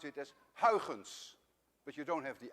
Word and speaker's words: Huygens: of christian huygens actually a dutch person would pronounce it as haugens but you don't have the i in your